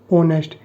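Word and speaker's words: honest: आपको बताया था कि यहां पे एच साइलेंट है इसको हम क्या बोल देंगे ऑनेस्ट यानी कि ए की साउंड आएगी तो इसलिए यहां पे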